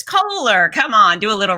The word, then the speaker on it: Koehler: or cobbler, it's Kohler.